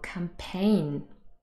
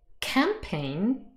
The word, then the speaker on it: campaign: example the word campaign for example a political campaign now here the word stress is on the second syllable campaign this is a bit of an